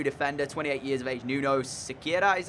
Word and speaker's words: Nuno Sequeira: Nuno Sequeira is how you say it.